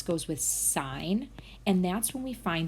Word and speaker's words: sine: geometry you learned about the basic trig functions sine which we label SI n not pronounced sin please don't do that next year